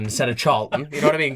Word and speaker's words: Charlton: I called him Carlton instead of Charlton. You know what I mean? Got his name wrong, and like.